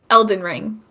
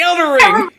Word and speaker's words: Elden Ring: these games mixed up Elden ring you said it right you got it right you didn't say Elder ring I was gonna say